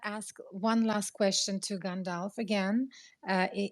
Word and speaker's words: Gandalf: one last question to gandalf again uh am i pronouncing your name correctly gandalf is correct gandalf okay um where would